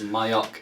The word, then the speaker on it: Mayock: His real name is Robert Conroy Mayock, and he says Mayock is how you pronounce it, I believe.